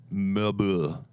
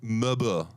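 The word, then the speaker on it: Mère Bulles: Maribel it's Merebulles. The pronunciation it literally translates to mother bubbles in French. Yeah, that's amazing. And it's pronounced Mebu in French. So it's say that one more time. Mebu. Mebu. If you're French, you say it's Mebu.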